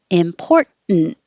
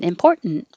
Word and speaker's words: important: i don't know why this one you can say important with a t or no t important just important eminems you don't say